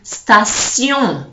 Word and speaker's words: station: So in English you say station, in French you say station, sion, transition, attention, création. All right, so that's one that I think needs a lot of practice, because when you see it, automatically you pronounce it the English way, and completely different in French.